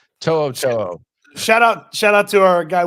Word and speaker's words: To'o: He had To'o on Kicking It with Kunkel, and they were talking about all the weird pronunciations of his name. He said he's gotten Tutu before.